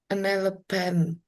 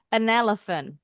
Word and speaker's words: elephant: An elepant. An elepant bunyinya F. An elephant. One more time. An elephant. Nah, yang diingat PH bunyinya pasti F.